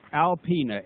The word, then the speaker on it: Alpena: It's Alpena, A-L-P-E-N-A.